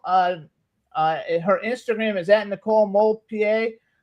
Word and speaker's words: DeMoulpied: Just make sure you put the D in there, since you don't hear it when you pronounce it.